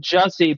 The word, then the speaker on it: Jussie: Right, it's pronounced Jussie, but he calls himself Juicy.